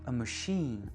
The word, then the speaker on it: machine: Mais quand on emprunte un mot français en anglais, on va vraiment accentuer sur la dernière syllabe. Par exemple, machine ou cuisine, élite.